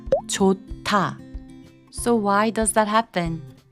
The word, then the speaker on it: 좋다: Maybe you've seen the word 좋다, which means good, but when you actually hear Koreans say it, it sounds like 좋다.